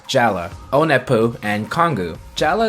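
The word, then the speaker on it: Jaller: waterwear jela spell j al l ER but pronounced jela ona poop and kongu jela is the most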